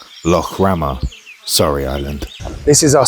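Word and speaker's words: Lough Ramor: Actually, it's pronounced Lo Rama, sorry island.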